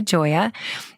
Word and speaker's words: Gioia: Make sure and follow Victoria Gioia. That's VICTORIA-GIOIA and Perelel Health with one L. I always spell it with two, but it's PERELEL Health.